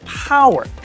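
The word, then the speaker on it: Poer: On another note, something that's a bit familiar but new is the GWM, believe it or not, that's pronounced Power.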